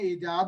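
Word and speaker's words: ایجاب: इसको इजब बोलें या इजाब बोलें, ये मुस्लिम प्रोनाउंसिएशन है, ठीक है, तो इट्स उर्दू की प्रोनाउंसिएशन कैसी होगी, इट्स ऑल अप टू यू हाउ you going to pronounce it. इजाब बोलेंगे, इजब बोलेंगे, इजाब होगा वैसे, इजाब।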